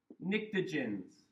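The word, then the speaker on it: pnictogens: Um group five is called the nicagens. with that silent P like in pterodactyl.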